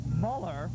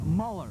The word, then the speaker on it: Mueller: continues to lead Peter meller again we're feeding the public address system here and I've been told by some folks in the Chicago area UI fans that the correct pronunciation is Mueller so we'll go with